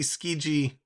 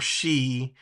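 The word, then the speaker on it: Skjei: Bunting and Tavares Brady skiji or ski or she depending on how you like to pronounce it gets his 14th from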